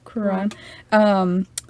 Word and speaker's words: Quran: And according to the Quran, is that how you say it? Yeah. Quran.